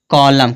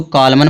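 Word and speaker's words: column: कुछ लोग इसको कॉलमन पढ़ देते हैं। कॉलमन नहीं पढ़ा जाएगा, कॉलम पढ़ा जाएगा। क्यों कॉलम पढ़ा जाएगा? क्योंकि यम के बाद यन आएगा तो यन क्या होगा? साइलेंट होगा।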